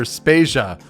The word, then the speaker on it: Spasia: devayer and I'm spasia we're brought to you by Anonymous dinosaur and rhymes with Asia it's time to appreciate